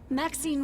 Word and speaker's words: Maxine: of most Exquisite varieties Maxine rhymes with Queen after all and dearest